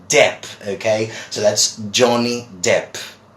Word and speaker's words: Depp: know him as Johnny deep but this is not Johnny deep my friends that might be another person this is Johnny DEP DEP not deep but Depp okay so that's Johnny